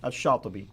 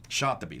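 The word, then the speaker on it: الشاطبي: Now, how would you pronounce his name? Shatibi. Shatibi.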